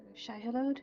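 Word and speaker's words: Shai-Hulud: Apart from coordinating what's going on with the white worm you called Shaihalod, did I pronounce that correctly? Yes, this one in particular, the White Death.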